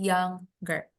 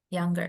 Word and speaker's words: younger: cold colder ini juga yer cara baca Eh Muda gimana oh yanger nah yang yang younger Oke jadi bukan y nger tapi younger yanger berarti fokus ke kata